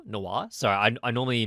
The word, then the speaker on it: noir: but kind of like a dry noir-esque film nor Noir so I normally mispronounce that word but I think it really